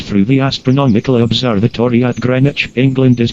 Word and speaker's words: Greenwich: longitude that passes through the astronomical observatory at Greenwich England is called the zero Meridian prime meridian or Greenwich Meridian Greenwich though it is spelled that way is pronounced Greenwich with accent on crane several countries tried to